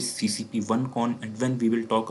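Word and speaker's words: CCP1CON: X is basically, when we will talk about CCP1 module, we will pronounce it CCP1 con, and when we will talk about CCP2 module, we will say it CCP2 con.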